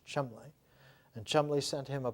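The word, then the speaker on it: Cholmondeley: uh chumble Thomas Chand pronounced in English Chum and Chum sent him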